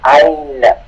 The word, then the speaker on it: ein: Skip, en la gramática hay muchas derivaciones de ein. Siempre es ein. Escrito E-I-N, escrito E-I-N, pronunciado A-I-N.